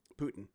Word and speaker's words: poutine: very clear i love poutine putin not a fan but poutine that's how the people in quebec pronounce they pronounce it putin they say poutine like